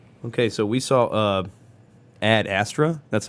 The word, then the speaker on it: Ad Astra: ] beer okay so we saw uh Ad Astra that's how it's pronounced right yes okay with a Brad Pit